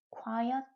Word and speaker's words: quiet: 자, 이 단어를 읽을 때는 quiet 라고 읽습니다. 자, 발음이 조금 다르죠. 조용한 이라고 읽을 때는 quiet. 꽤, 아주 라는 의미를 가진 부사를 읽을 때는 quite.